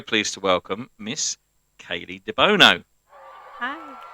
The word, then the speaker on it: Debono: So I'm very pleased to welcome Miss Kayleigh Debono.